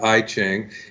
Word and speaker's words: I Ching: Now, in my case, I fell in love with this thing called the I Ching when I was 19 years old. Or some people pronounce it I Ching, and in Chinese it means the Book of Changes.